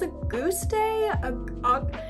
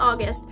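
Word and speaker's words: Auguste: name i probably should i think it's a goose day it's not august but i don't know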